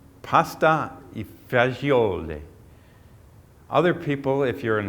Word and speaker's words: pasta e fagioli: Other people, if you're an Italian from the the East Coast of the United States, you're probably calling it pasta fazool or pasta fazool because it's one less syllable, and I guess people